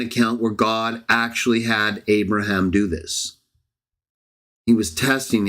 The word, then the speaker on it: Abraham: Sometimes in English we say Abraham. It's just the way it comes out. But yes, I know how to pronounce it. Abraham. I still will say Abraham. Sometime later, or Avram, if that's the context.